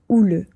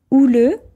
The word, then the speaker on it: houleux: débats sont généralement assez houleux houleux ça veut dire agité donc un débat ouleux c'est un débat avec beaucoup d'agitation attention oule ça s'écrit avec un H mais on ne le prononce pas et donc par exemple